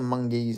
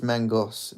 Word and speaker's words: Mangos: Is it pronounced Mangos or Mungese? It's Mangos. It's literally pronounced like it's spelled, just pronounced like Mangos. Or at least he's never corrected me when I've introduced him as George Mangos.